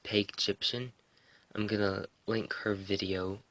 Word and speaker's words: Pagyptian: Now, I'm gonna link, I believe it's pronounced Peg Egyptian.